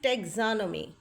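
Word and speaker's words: taxonomy: genetics then we will study about molecular biology and pathology ecology marine biology immunology morphology एनाटमी histology physiology टेोनोमी the word is टेग्जोनमी and next next ये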